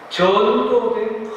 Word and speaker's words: 전도: 두 번째, 전도된 가치관을 가지고 있으면 세상을 사랑하게 됩니다. 전도된 가치. 전도. 좀 길게 발음해야 돼요.